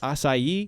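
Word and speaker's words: açaí: have not it's it's spelled strawberry aai but pronounced assai okay I don't know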